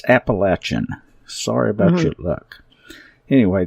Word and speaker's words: Appalachia: get involved with the Appalachia and we despise that word that that pronunciation. It is so incorrect and it's so pretentious. It's Appalachin.